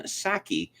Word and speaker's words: Psaki: White House Press Secretary Jen Psaki, declined to comment when asked about Musk's deal. Yes, it's spelled P-S-A-K-I, but the P is silent, like the P in toilet.